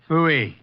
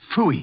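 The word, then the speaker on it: pfui: Phooey. It can be spelled in several ways. I spell it P-F-U-I. Phooey.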